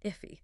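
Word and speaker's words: IIFE: That's the one, the immediately invoked function expression or if pronounced iffy, right?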